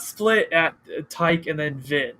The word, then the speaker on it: Ti: It's not split at Tyke and then Vin. It's TI, but I usually just say Ty like titanium, and then Kevin83.